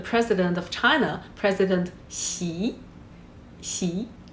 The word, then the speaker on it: Xi: Xi. Remember, shh and smile.